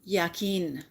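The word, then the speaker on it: Jachin: is indicative of unity the white pillar is J but that's pronounced yakin and that is Duality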